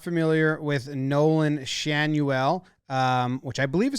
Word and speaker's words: Schanuel: Schanuel. Someone told me it was rhymed with Manuel. I'm wrong. Schanuel? Schanuel. That's what Baseball Reference says.